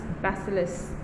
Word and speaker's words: bacillus: is the stolen basileus okay so this is pronounced as bacillus now what is a bacillus it is actually